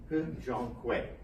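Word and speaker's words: He Jiankui: He Zhonghui. I say that carefully because there are a lot of different pronunciations for his name, but I went to Chinese studies and listened in. So He Zhonghui.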